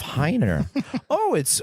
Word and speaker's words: Heiner: Anyway, I remember Like the wiener.